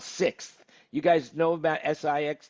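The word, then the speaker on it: Sixt: from a company called 6th you guys know about siix th do they have a shuttle van that goes around the airport the 6 is how it's pronounced but yeah they've got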